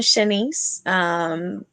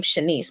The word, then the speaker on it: Chenice: hmm So it's Shanice. That's my middle name, Shanice, but it's spelled Chenice. So it looks like Chenice a little.